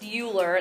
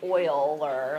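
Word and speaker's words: Euler: a man named Mr Oiler I don't know what his first name is it's not pronounced uler it's actually pronounced Oiler like o i l e r so Oilers theorem gives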